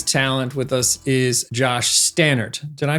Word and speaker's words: Staneart: Today's talent with us is Josh Stannard. Did I pronounce that correctly?